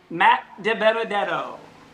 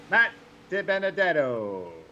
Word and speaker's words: DiBenedetto: Di Benedetto. Yes, yeah, but say it like I did. Say Matt De Benedetto. Matt Di Benedetto.